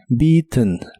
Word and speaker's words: beaten: pero en este caso termina con ten Aunque la e del final se pronuncia muy suave beaten beaten muchas veces en especial en inglés americano escucharás que la terminación de este verbo se hace como haciendo un golpe de aire desde la nariz suena como T T